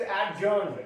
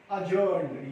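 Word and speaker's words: adjourned: ये बोलना गलत है, क्योंकि ए और जे के बीच में जब भी डी आएगा तो डी साइलेंट माना जाएगा। कोर्ट में आपने सुना होगा कि द कोर्ट इज एडजर्न्ड, ऐसा नहीं होता, द कोर्ट इज अजर्न्ड।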